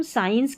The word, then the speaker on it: science: जब हम साइंस की स्पेलिंग लिखते हैं SCIENCE, साइंस, साइंस, तो यहाँ पर SCI को स पढ़ते हैं, लेकिन देखिए कॉन्शस में यहाँ पर हम श पढ़ रहे हैं SCI को।